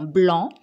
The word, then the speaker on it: blanc: un panneau attention oui on essaye bien de voir si la lettre c est muette comme dans blanc ou si elle va